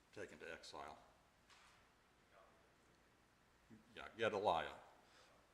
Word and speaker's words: Gedaliah: Yeah, Gedaliah is the way I pronounce it. You may have been closer to right, but Gedaliah.